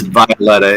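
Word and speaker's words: Wioletta: So it is Violetta. The W is pronounced as a V.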